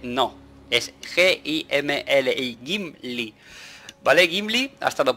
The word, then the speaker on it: Gimli: Es G-I-M-L-I, Gimli.